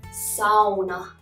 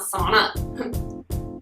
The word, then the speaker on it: sauna: Sauna. Sauna. It's not sauna. It's the only Finnish word that made it into the English language, so you have to say it correctly.